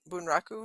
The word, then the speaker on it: bunraku: like a Japanese dramatic Puppet Theater thing the bunraku is that how you say it yeah yeah